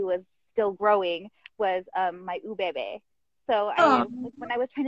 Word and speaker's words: Ubebe: It's Ubebe Beads.